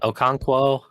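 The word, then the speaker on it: Okonkwo: You got I I don't want to mis mispronounce their names, but I Manor, you know, Oko, I don't Okanquo.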